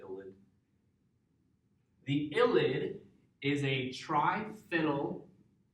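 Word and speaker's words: ylide: it with a reagent called an illid, that's y l i d e. Although I think some places leave off the E. They just call it illid.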